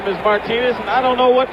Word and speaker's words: Martinez: now we're told that the absolute correctness of the pronunciation is Martinez right field Bay set